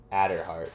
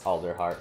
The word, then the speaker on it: Alderheart: um alder hi oh i always pronounce his name at her heart i know it's alderheart but i don't know i always don't say the l for some reason which